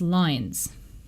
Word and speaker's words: loins: If you read it in original pronunciation, the word loins becomes loins. From forth like the fatal lines, which does sound like lines.